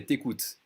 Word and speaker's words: t'écoutes: So people will say t'écoutes. T'écoutes quoi? What are you listening to? Tu écoutes will be t'écoutes.